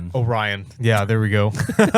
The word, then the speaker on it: Orion: Oran Orion. Orion.